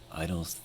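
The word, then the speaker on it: (G)I-DLE: I'm pretty sure the correct pronunciation of the group is just Idol. The G stands for girls, I think, and the rest of it is some sort of Korean wordplay, Korean English wordplay.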